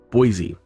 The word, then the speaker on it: Boise: to a flight above Boise. Now, I guess the local people pronounce it Boise. Everybody's got to be different. But to the rest of us, it's Boise.